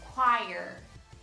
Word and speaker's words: choir: Essa palavra significa coral e no inglês americano ela é pronunciada como choir, choir, choir, choir. A diferença principal está no R no final.